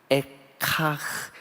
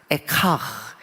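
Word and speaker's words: איכה: 1절의 첫 글자, 그것을 따서 그 히브리 말 발음이 에카흐, 에카흐, 에카흐, 이 말을 그대로 제목으로 붙였어요.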